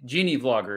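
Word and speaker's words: GeneaVlogger: channel is uh called genie vlogger gina vlogger genie genie vlogger is how you pronounce it yes and he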